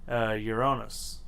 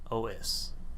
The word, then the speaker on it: Uranos: Meet Uranus. Uranus? No. Uranus? No. Uranus? No. Okay, it's Uranos.